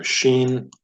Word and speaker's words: shin: So shin has the SH sound, and then sin has the S sound, as in the word sound.